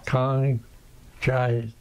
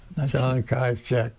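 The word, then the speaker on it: Chiang Kai-shek: Kong Chai. How do you pronounce it? Saigon? John Kaichek.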